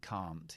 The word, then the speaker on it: can't: and really native speakers i can play tennis i can't play tennis i don't really pronounce the n or the t it's just that long a that i use that a native speaker